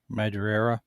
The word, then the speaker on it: Madureira: I even remember wanting to talk to Chris Claremont and being shut down, or wanting Joe Madureira, yeah, I think is how it's pronounced, to do posters, just as I was